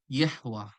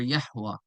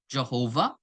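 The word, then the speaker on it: Yahweh: it's pronunciation ation as Yahwa or or or Yahwa um not Jehovah they they add the J when they came into English right uh or or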